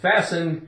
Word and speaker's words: fasten: right okay fasten now if you see words that end with F t n it is likely like we see in soften and F often it's a very good chance that the t is going to be silent if you see a